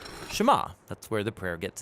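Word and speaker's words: שמע: is hear or listen which in hebrew is pronounced shema that's where the prayer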